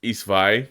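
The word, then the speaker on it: Ys VIII: Except for it's worse than Issei Lacrimosa Dana for sure. We need to get that. We need to pump that up. It's pronounced Isvai.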